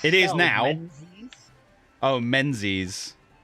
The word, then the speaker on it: Menzies: yeah that's why yeah john menzies is pronounced john mingus there you go have